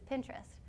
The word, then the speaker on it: Pinterest: A popular website that has been blowing up on campus is Pinterest. Yes, it is pronounced like interest and purposefully so.